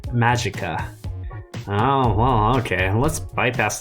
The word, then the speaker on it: Magica: just so you know the actual correct pronunciation of the original latin word is apparently magicka oh well okay let's